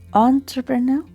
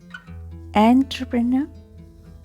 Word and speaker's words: entrepreneur: Sound of the initial letters EN in this word is, this is entrepreneur, entrepreneur or entrepreneur. How to pronounce it? So letter EN, they have the sound on, and or in. You have to think about it, whether it is entrepreneur. Here, in British English, we do not pronounce letter R in the end. Okay, let's keep it silent.